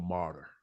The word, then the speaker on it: martyr: Someone dying for the cause is considered a martyr. You know what? I'm gonna go on a limb here because I know it's tricky and I know it ain't spelled like it sounds. Martyr.